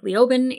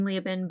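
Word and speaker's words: Leoben: And I hate saying that because I think Liobin is, and I keep saying Liabin, but Liobin is a stupid pronunciation.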